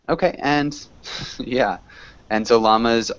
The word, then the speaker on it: llamas: and yeah and so llamas are pronounced with the strong l in English oddly but yeah I I